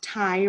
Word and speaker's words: Tygh: His name is Ty Ranyan. Ty is spelled Tygh, which I appreciate.